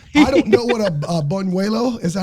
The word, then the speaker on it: buñuelo: Like, it was, I don't know what a buñuelo, is that how you say that?